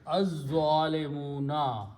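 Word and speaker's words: الظالمون: Then you put al before that. Al means the, and when you read them together, you recite az-zalimuna.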